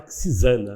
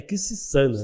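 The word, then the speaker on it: Quisisana: Porque muita gente fala Quixizana, né? Sim. Mas se eu estiver errado, você, por favor, me corrija. Mas o nome, a pronúncia correta é Quixissana, né?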